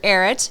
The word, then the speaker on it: Arutt: It's a r u tt and it rhymes with carrot, but it's not spelled like carrot. I know it's okay, but pronounced Dr. Erit. Erit.